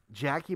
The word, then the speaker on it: Jaci: start that i know your first name is pronounced jackie because i would feel